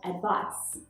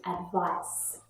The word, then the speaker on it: advice: Advise and advice. Can you hear the difference in pronunciation between those two words? They're very similar. Advise and advice. The difference is in the final consonant sound. Z and s.